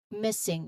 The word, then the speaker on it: missing: So missing, it's lost, it's not found. Missing. All right, um, pronunciation wise here, you notice the double S in the spelling, right?